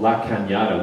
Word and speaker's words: La Cañada: And we were filming, I was telling someone, we were filming at a location called La Cañada, which is spelled La Canada, which I thought, this is so strange, like, what is the universe trying to tell me?